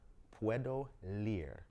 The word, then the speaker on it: Puedo leer: be starting as well, called Puedo Leer. That's how you say it, right? Puedo leer. There you go. That's how you say it. That in Spanish means I can read.